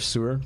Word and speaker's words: Suhr: I don't know how you pronounce it. It's SUHR, Sewer.